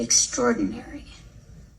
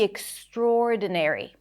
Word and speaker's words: extraordinary: Like we have to always be extraordinary. Like we have to always be extraordinary. Extraordinary. Extraordinary. The primary stress is the or vowel. Extraordinary. So you want to stretch it a little bit.